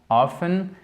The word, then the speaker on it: often: mot often often donc qui se prononce généralement often mais qui s'écrit avec un T d'accord FT voilà et où est-ce